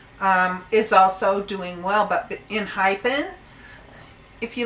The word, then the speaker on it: ENHYPEN: also Jay, who is from the US originally, pronounce it Enhypen.